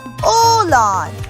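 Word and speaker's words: oğlan: join means mountain however in turkey it is pronounced as dog second example and allah which means cry aughlan and olan which means boy sometimes it's transformed to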